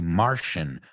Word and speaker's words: Martian: Okay, Martian, Martian se escribe, pero suena como SH.